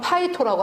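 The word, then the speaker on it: πείθω: 이렇게 쓰고 발음은 파이토라고 합니다.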